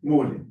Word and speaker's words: Mullin: I'm from Sheffield University Management School, and I'm together with Mullin, or Mulan, I don't know what's the right way to pronounce it. Mullin.